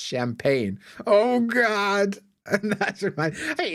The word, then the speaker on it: champagne: and he's like oh would you like the rest of the champagen it's pronounced champagne oh God and that's